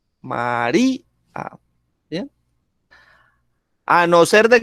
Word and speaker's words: María: ¿Dónde tiene el acento? En di, ¿cierto? María.